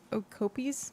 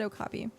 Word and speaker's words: Okapi: I said Okopies. Okokopies. I said I corrected it and said Okapi, but my initial attempt at spelling it was Okopies.